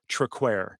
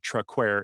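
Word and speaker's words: Traquair: that I talk about I mispronounce and it is actually called traquer so as we move forward just please forgive that uh that mistake and understand it is truckware and beautiful beer anyway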